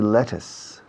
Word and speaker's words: lettuce: black beans in my kitchen is there any lettuce lettuce in your kitchen lettuce how do you